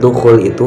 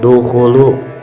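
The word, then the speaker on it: دخولُ: Di dalam kalimat dukhul itu harusnya dukhulu, bukan dukhuli.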